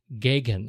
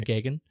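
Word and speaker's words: Gaghan: as the holder of all things, of all pronunciations, his name is Stephen Gagan, I believe. G-A-G-H-A-N, yeah. Right? Stephen Gagan.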